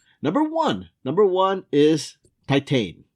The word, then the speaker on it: Titane: Number one is Titane or Yeah, I think it's pronounced Titang.